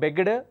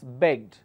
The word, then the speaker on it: begged: in the word begged we don't say beged it's begged like work is worked book is booked it's not book or talk so don't pronounce like that it's begged worked looked booked the suffix